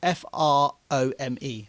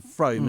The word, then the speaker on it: Frome: f r o m e. It's a place name that's spelled that Frome. And it's pronounced Frome rather than Froome, isn't it?